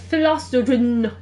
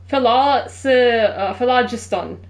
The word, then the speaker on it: Phlogiston: I forgot to pronounce it. First, a tracing of Philoston. Why am I saying Jin? Phlogiston.